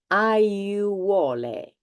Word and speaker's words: aiuole: This word, you have all the vowels and you need to pronounce all of them. I'll pronounce it slowly. Aiuole.